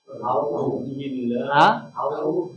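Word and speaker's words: أعوذ بالله: ভাই বানান করেন তোমরা জবর আইন পেশ হু আউ লাল পেশ যু আউজু বা লাম জের বিল লাম খারা জবর লা বিল্লাহ হা জের হি বিল্লাহি আউজুবিল্লাহি মিম জের মি নুনশিন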